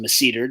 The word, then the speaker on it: masseter: Um, the masseter muscle. It may also be pronounced masseter, just depending on who's saying it. Basically, a lot of these terms they have sort of multiple acceptable pronunciations.